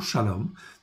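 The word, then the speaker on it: שלום: dans certains versets il n'existe pas ça se prononce toujours shalom mais c'est pas une écriture pleine donc ici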